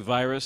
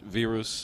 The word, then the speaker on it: Virus: I wasn't sure it's it looks like virus to an American or Englishman but it's actually pronounced vus with the leavians it's